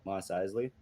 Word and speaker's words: Mos Eisley: eisley con cantina am i saying that right mos eisley yeah that's the proper way to say it